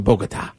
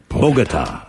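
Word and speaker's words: Bogotá: friend that lives in bogota oh yeah and you gotta say it like that i don't know why bogota bogota uh but right sophia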